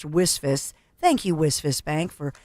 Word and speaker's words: WSFS: WISF, WSFS, we stand for service, pronounced WISF.